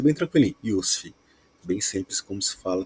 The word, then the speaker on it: Yussif: pessoal tem dificuldade Inicial Mas é bem tranquilinho iusf bem simples como se fala também eu atuo